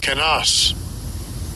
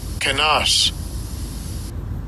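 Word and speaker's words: κενός: It is G2756, and I'll give you a pronunciation of it. Strong's G2756. Kenas. Kenas.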